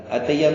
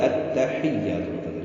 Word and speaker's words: التحیات: التحیات نہیں ہے, التحیات.